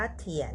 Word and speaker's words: 甜: นี้ กัน นะ คะ พยัญชนะ ขึ้น ต้น ด้วย ตัว T ค่ะ ออก เสียง เธอ สระ ผสม 3 ตัว ด้วย กัน ค่ะ i a นะ คะ ออก เสียง เอียน เสียง วรรณยุก ที่ 2 ไว้ บน ตัว a นะ คะ ผ่าน กัน ค่ะ ทุก คน เธอ เอียน เทียน เทียน เถียน เถียน หมาย ถึง หวาน ค่ะ